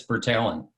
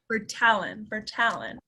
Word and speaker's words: Bertalon: Is that how you say it, Dan? That's close enough. It's Bertalon. Bertalon.